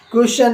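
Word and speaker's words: question: अभी आपको बताया है जैसे एग्जांपल क्वेश्चन है या प्रश् इसमें टी के तुरंत बाद आपका आईओ एन आया हुआ है इसलिए य पर टी की जो आवाज है आपने ध्यान नहीं करोगा वो चक होती है क्वेश्चन ठीक है ना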